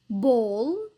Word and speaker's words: ball: عنا حرف ال A الصوتي لما بيجي بعده double L فدائما بنلفظه O. طبعا هذا الحكي باللهجة البريطانية. فالكلمات هون بنقرأهم كالتالي: ball, wall, small, tall.